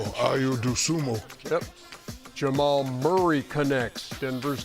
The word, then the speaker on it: Dosunmu: I'll say his name correctly. Ayo Dosunmu. Ayo Dosunmu. Yes, indeed.